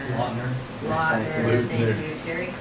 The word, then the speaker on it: Lautner: Garcia, Taylor Luker, Lautner.